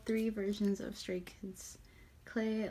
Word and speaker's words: Clé: versions of straight kids clay Elementor is how you pronounce it throwing box today I've